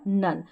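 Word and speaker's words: none: जैसे यहाँ पर देखें ओ के बाद में एक अक्षर छोड़कर लास्ट में ई है इन सभी में, फिर भी हम इसको ओ नहीं पढ़ रहे हैं, क्या पढ़ रहे हैं, अ प्रोनाउंस कर रहे हैं हम ओ को अ। जैसे कम, सम, डन और नन।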